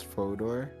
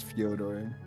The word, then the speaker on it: Fyodor: like but fyodor gurgu i'ma just say it's fodor because usually when lane's name's like that the jay is silent what if it's joedor that's so dumb but i'm pretty sure it's fyodor but he's like the